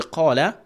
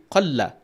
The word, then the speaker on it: قَالَ: But if you take out that alif from the qala and you pronounce it qalla, and the thing is that when you move out that alif from that qaf, the mad, you will not be able to pronounce that qala correctly. You're going to give shadda onto that lam.